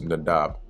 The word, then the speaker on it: Nadab: Reign and then comes nadab here it's spelled nadav but it's nadab okay so second king king